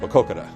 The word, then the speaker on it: Maquoketa: uh we just say put the Coke in the middle and then you got it and say it fast put Coke in the middle and say it fast and you come out perfect makoka anybody that can pronounce